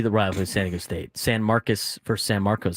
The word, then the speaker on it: San Marcos: They're in San Marcus, Texas. It's spelled like San Marcos, but they say San Marcus cuz Texas is wrong. Maybe that should be the rival San Diego State. San Marcus versus San Marcos.